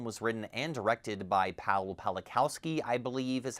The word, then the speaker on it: Pawlikowski: This film was written and directed by Pawlikowski, I believe is how you say his name.